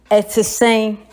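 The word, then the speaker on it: sɛn: Like for a typical Ghanaian, we say s3n. You know, as I always tell you, it goes down. It's short vowel. No, it doesn't go long. So we say s3n.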